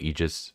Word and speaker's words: AIGIS: I'm pronouncing it Aegis just because that's how it's pronounced in Persona 3, but maybe I'm wrong. But I'm just going to call it Aegis for this video.